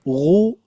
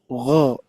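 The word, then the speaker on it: غ: Makanya ketika pengucapan dommah apalagi ya dommah dan juga fathah itu tebalnya kita kerasa ya ghu gho ghu gh tapi ketika kasrah bukan tipis.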